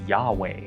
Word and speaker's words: YHWH: by the tetragrammaton yhwh typically pronounced in hebrew as yahweh but we actually don't know what the vowel sounds should be it could be yuhu wuhu for all we know that said the king